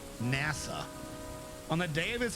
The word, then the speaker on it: Nasa: The story follows protagonist whose name is written with the characters Hoshizora, Starry Sky in Japanese, but whose name is pronounced as NASA.